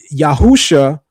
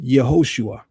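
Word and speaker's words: Yehoshua: and ideologically speaking right Yahusha is is not even grammatically correct as a pronunciation uh you're trying to say Yahosua right that's the Hebrew Yahosua That's the Hebrew. Then there is a Aramaic rendition which is Yeshua, right?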